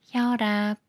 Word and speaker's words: 혈압: 리을로 그래서 걸음 걸음 혈관에 생기는 압력 혈압 리과 만난 이이라 리얼로 그래서 혈압 혈압 이번에는 꾸며주는 말의 리을